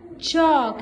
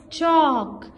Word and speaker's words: chalk: Ch ok, chalk. Here L is silent. Okay, it's silent L. Ch ok, chalk.